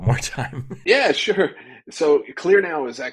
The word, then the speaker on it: KlearNow: spell that one more time yeah sure so clear now is spelled with a K it's k l e